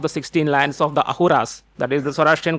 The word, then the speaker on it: Ahura: 16 lands of the Ahuras. That is the Zoroastrian call themselves as the Asur Ahuras. Of course their pronunciation is Ahura but we call them Asura.